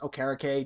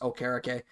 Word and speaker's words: Okereke: It's actually pronounced Okereke, TJ, if you ever hear this. It is pronounced Okereke.